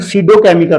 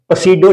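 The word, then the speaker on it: pseudochemical: आगे है student सीडोकेमिकल रिएक्शनंस। Definition है आपने समझ लेनी है जरूर। बहुत इंपॉर्टेंट है। सडोकेमिकल रिएक्शन। पसीडो नहीं बोलना आपने इसको। पी साइलेंट है यहां पर।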